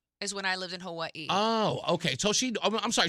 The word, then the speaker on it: Hawaii: Yeah, we say Hawaii. That's the rest of us. Well, the proper way is Hawaii. Who? Hawaii. Were you German? In Hawaiian, the W is pronounced like a V.